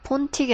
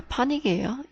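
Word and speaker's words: pontic: 폰틱이 아니라 파닉이에요. 요거 묵음이에요.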